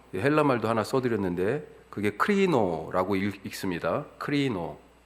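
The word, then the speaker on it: κρίνω: 헬라 말도 하나 써드렸는데 그게 크리노라고 읽습니다.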